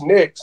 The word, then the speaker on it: Nix: right right right so my last name's Nix and it rhymes with fix and it and so